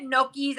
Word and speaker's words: gnocchi: After I spent 10 minutes telling you how to say it, you're still walking around saying you love gnocchis.